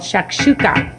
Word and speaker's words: Shakshuka: And we're going to cook up something special, easy, delicious, and healthy, of course, called Shakshuka.